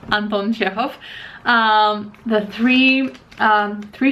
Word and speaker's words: Chekhov: what's in store uh he sent me anton chekhov or how it's actually pronounced anton jeff um the three um three short stories by